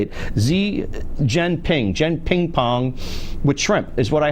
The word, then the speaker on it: Xi Jinping: The guy, I don't say XZ, how do you say it? Xi Jinping with shrimp is what I had last night.